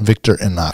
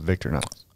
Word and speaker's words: Victorinox: There's an I there, Victorinox. I know, but I think it's just pronounced Victorinox. Yeah, Victorinox.